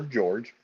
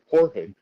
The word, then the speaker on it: Jorge: with that is also is a lot of jores go as Jorge even as they come into America they it it's each individual like they're all spelled the same but some guys prefer George some guys prefer Jorge it's like how do you know which one you guys spell it the same exact way my name is